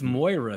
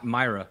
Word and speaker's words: Moira: much what is this Moira thing like it's always been Moira it's my Myra Myra no never mind it's never been mine you're out of your